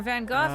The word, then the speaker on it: van Gogh: definitely no this is looking like a van Gogh painting or van Gogh instead because that's how you really pronounce his name oh that's why it's